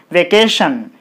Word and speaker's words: vacation: There are three syllables in this word, and this word is ending with ion. So from the last, what is the second syllable? Tion.